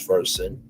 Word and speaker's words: Versant: The new company chose Vers um pronounced like the root word root the root of the word conversant to emphasize his versatility and familiarity with multiple subjects.